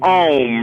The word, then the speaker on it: Om: All of you are familiar with the tone Om, right? You can spell it A-U-M or O-M, but Om.